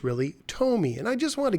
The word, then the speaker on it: Tomy: i reviewed my pacman bank but i incorrectly pronounced the company's name i called it tommy and it's really tomy and i just want to give a shout